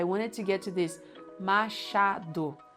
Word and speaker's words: Machado: And Machado de Assis. I wanted to get to this. Machado, with CH. Machado de Assis. I've heard so many times people say Machado. Come on, Machado, not so hard.